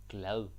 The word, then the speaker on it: glad: GL happy glad content GL it's important that you pronounce the d in a soft way so say GL don't say glad that's no no because